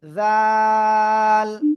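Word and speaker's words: ذال: তাহলে সেটার নাম হবে, জিহ্বার আগা উপরে দুই দাঁতের আগায় লাগিয়ে 3 আলিফ টেনে উচ্চারণ করেন, জাল। নরম করে প্লিজ সবাই একসাথে জোরে জোরে বলেন, জাল।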